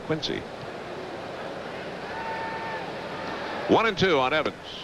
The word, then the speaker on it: Quincy: Mr. Coleman is from Quinsey. Qu I ny Quinzy. Quinsey Evans fouling one back. There's a Quinzy Massachusetts and a Quincy Illinois, but I never heard anybody pronounce Mr. Adams name as John Quinsey Adams. I always thought it was John Quincy.